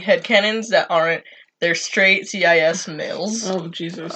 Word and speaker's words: cis: that aren't their straight CIS males. Oh Jesus! It's just pronounced cis.